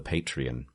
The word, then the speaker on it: Patreon: Because I always used to do it wrong. Patreon. Yeah, well, I always used to get confused because of the tequila brand.